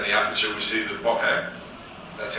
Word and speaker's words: bokeh: But also, as we close down the aperture, we see the bokeh. That's how I've apparently been told to pronounce it.